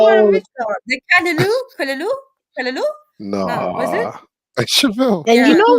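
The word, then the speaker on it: callaloo: It's called Kalaloo, not Lulu.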